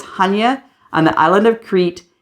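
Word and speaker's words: Chania: place we went after split we went to Hana cre in Greece now a lot of people pronounce Hana CH Chia c h a n i a but it's Hana on the island of cre in the Greek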